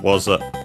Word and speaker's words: は: Only wa remained, which can be seen also in the topic particle. We can see here written as ha, but pronounced as wa because of that.